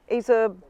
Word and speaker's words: Azub: Azub. Azub 6. Azub 6. It's an Azub 6.